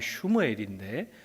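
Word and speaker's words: שמואל: 그의 아들의 이름은 사무엘, 본 발음하면 슈무엘인데 슈무엘이란 말은 하나님께 얻었다 그런 뜻입니다.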